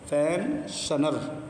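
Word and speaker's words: pensioner: گے، یہ ایس ہے۔ ایس کے بعد آئی اور او ہے تو ایس کا تلفظ شا ہوتا ہے، بڑا شا، ٹھیک ہے، بڑی شین کے ساتھ ہوگا، پینشنر، پینشنر، یہاں پہ زا بھی نہیں ہوگا اور سا بھی نہیں ہوگا بلکہ بڑا شین، پینشنر، یہ والا۔ وظیفہ پانے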